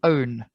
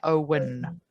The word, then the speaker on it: own: to be interested um i want to help you with the pronunciation of the word own own i can hear owen yeah owen is the name of a person it's a man's name yes so and any